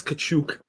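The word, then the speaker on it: Katchouk: Boris Kachuk. Is that how you pronounce it? Kachuk, yeah.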